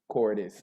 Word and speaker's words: Cordes: She does all these different type of things, and her last name rhymes with goddess, and that is Emily Cordes.